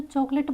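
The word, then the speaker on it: chocolate: यहां पे ई पी और यहां पे जो चॉकलेट बोलते हैं तो ये वाला जो ओ होता है उसको हम प्रोनाउंस नहीं करते हैं।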